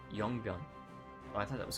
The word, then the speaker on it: Yongbyon: This, it looks like it's Myeongbyon, but that's actually the North Korean way of pronouncing it. In South Korea, they pronounce it Yongbyon.